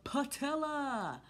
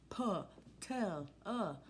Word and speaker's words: patella: here the actual name your patella paw tell uh and some of you like Co like it rhymes with Nutella yes don't eat Nutella